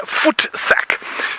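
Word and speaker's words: voetsak: with the word I said a bit earlier foot sack uh basically it means foot sack but I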